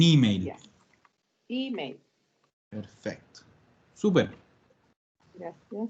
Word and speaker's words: email: En italiano vamos a cargar en la E que se pronuncia como I. Un email.